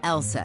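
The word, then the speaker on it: LSEG: be a bit misleading take ours for instance pronounced Elsa AKA London Stock Exchange group sure we're in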